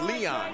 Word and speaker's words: Leon: It's Leon, not Eric.